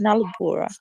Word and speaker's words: Nalubulwa: of your name, especially the second name is Nalubulwa, Nalubulwa, Yeah, yeah, it's Nalubura.